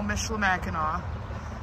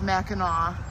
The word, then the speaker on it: Michilimackinac: says welcome to Colonial Michela Mackinaw yes it's pronounced with a w on the end not a c whenever it's a c it's always Mackinaw at this building here